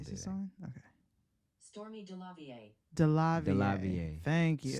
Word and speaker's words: Stormé DeLarverie: Stormé DeLarverie. DeLarverie. Thank you. Stormé DeLarverie.